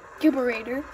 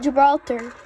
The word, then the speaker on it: Gibraltar: I used to call it Gibberator. I don't call it Gibberator anymore. I call it Gibraltar.